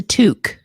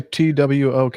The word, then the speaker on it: toque: It's like chefs wear a toque.